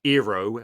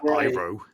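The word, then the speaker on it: Iroh: mean it meant nothing they pronounced his name wrong as well eero as opposed to iro they had a show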